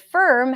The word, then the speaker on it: firm: So the word form has the O sound, form, and the word firm has the stir sound.